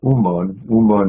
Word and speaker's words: Yunmen: And yet, Yunmen, Master Umon is the Sino-Japanese way of pronouncing the Chinese Yunmen, then steps in for us and says, kitchen, pantry, main gate.